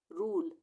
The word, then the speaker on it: rule: उसी तरह से रूल, ई का उच्चारण नहीं होगा, रूल।